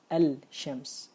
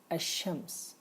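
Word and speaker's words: الشمس: the the word hashems I'm not going to be able to pronounce the lamb after that I'm not gonna say El Shams I'm not gonna say that it's wrong we it's rather hashems lamb is not there we write it it's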